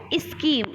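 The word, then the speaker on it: scheme: हैं नेक्स्ट है इसकी आप क्या बोलते हो स्कीम इस तरीके से बोलते हो ना स्कीम लेकिन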